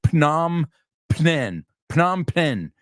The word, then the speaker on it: Phnom Penh: Now, si lo ves escrito, parece Phnom Penh, but it's Phnom Penh. The P, the first P is silent.